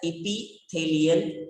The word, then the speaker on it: epithelial: The first type is called as epithelial tissue. Epithelial tissue. It is pronounced in one like epithelial.